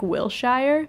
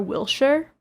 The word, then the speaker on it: Wilshire: But she did say, she said Americans say Shire, like Wilshire, but it should be Shur, Wilshire.